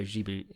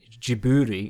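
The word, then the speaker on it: Ghibli: I'm a massive studio jibu jiburi is the technical is the correct way to say it apparently but I learned that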